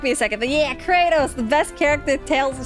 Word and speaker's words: Kratos: did got of war katos and Kratos oh yeah it was katos they pronounced it katos for Tales of Symphonia I don't know